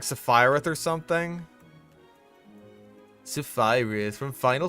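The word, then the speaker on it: Sephiroth: Didn't he pronounce it like Safarith or something? Safirus from Final Fantasy. He has a really long sword. Oh, Sephoriath.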